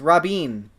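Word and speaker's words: Robyn: well enough vowels it's Robin that's how you pronounce it it's like Robbie but with an N at the end of it Raoh Elizabeth Robin Robbie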